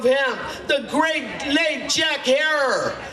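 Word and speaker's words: Herer: The Emperor of Hemp, the great late Jack Herror. Does anybody remember Jack Her? It rhymes with terror.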